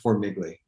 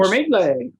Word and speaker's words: Formigle: It's technically pronounced Formigle. It's an Italian name that doesn't look Italian. It should end in an I. Got changed. Formigle.